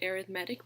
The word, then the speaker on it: arithmetic: arithmetic and geometric sequences we do pronounce that first word arithmetic because it is an adjective describing a type of sequence if I was just